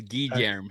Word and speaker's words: Garm: their Hey, I I found the pronunciation is Garm. So, Germa wasn't too far back.